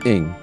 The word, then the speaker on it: Ng: The bearded man continued, "My friend's name is Charlie Cheetah Ing. Cheetah pronounced cheetah, Ing pronounced ing."